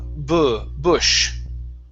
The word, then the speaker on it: bush: The word is uh bush. Bush. Okay. Give me more of an uh sound. B like a grunt.